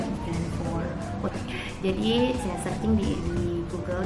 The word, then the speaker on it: E-Kran 4: Cara bacanya gimana sih? Terus dia bilang itu bacanya Ikan for.